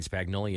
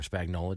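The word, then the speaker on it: Spagnuolo: City did in in spagnoli it did or Spagnola depending on how you depending on where you're from yeah I guess how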